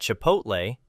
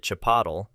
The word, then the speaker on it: Chipotle: I once saw a lady at Kdoba complaining to the manager that she didn't like the food and that Chipotle, she pronounced it chapatle, was bad, too.